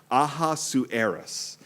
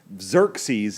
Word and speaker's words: Ahasuerus: The only thing hard about Esther is the name of the king, which I am pronouncing Ahasuerus. Xerxes is the Persian way of saying it, which is 1 billion times easier than Ahasuerus, but just choose what you want.